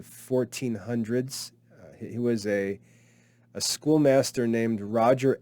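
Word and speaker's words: Scholemaster: he was a a school master named roger ascom a-s-c-h-a-m roger ascom and he published a book that was called the school master the school master it's spelled s-c-h-o-l-e-m-a-s-t-e-r it looks like scole master that was roger askham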